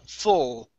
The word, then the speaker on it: full: Okay, so this one here is going to be an oo sound, fool. Mm-hmm. This one will not be, it's f, full.